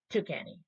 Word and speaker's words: Tuscany: We got a UFO stopped a soccer game in Tuscany or Tucany. Tucany.